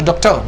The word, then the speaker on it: doctor: தி டாக்டர் ஹஸ்கம் தி டாக்டர் டாக்டர் R silent டாக்டர் இந்த ர் வந்து சைலெண்ட்டா வரணும் டாக்டர் டாக்டர் இது சொல்றதுக்கு